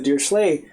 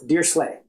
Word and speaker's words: Dirichlet: those things is the dear slay series uh the series itself is this um I I've heard it pronounced uh by I think people who know what they're talking about as dear dear slle so um the deer